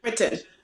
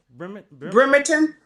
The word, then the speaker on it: Bremerton: Bremerton. Say it again. Bremerton.